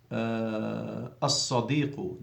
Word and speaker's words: as-sadiqu: As-sadiqu, the friend, the sad has a shadda, so you're not allowed to pronounce the lam.